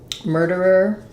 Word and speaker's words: murderer: uh another challenging one I would just break this down syllable by syllable so first syllable M second syllable dur last syllable ER so work on murder murder first this D is going to be a light flap so keep it light